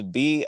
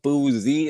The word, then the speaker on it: Bouzzie: It's Bouzzie in the building. Bouzzie. That's how you pronounce my name.